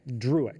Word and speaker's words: Drewieck: I mispronounced your word because you have a few more vowels in there than Yeah, you can skip Drewieck. one of them. Drewieck. Yep, two syllables.